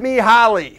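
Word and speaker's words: Mihály: talk about me Holly she sent me Holly and that is the correct way to pronounce that name Mihaly Csikszentmihalyi was a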